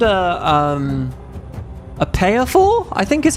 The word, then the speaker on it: pied fort: It's a French word. It's pronounced like, it's written like this. Okay, I'm learning all the things. If you look at chat, it's written like this, pied fort, but I think you say it payer-for.